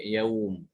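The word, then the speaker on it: يوم: Kalau wakof pada kata ini, maka dibacanya yaum. Bukan yaumahum tapi yaum. Di surat Ad-Dariyat ya, yaumahum 'alan nar itu dia tertulis terpisah seperti ini.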